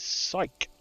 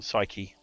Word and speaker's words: Psyche: i will need is psyc or psyche rather of a friend who's very specific about the correct pronunciation of that the name this pops